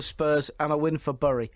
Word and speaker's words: Bury: and a win for burry which is re bury oh you're just being ridiculous that's how you say it is it is it